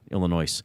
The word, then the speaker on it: Illinois: Yeah, and I know it's pronounced Illinois, not Illinois.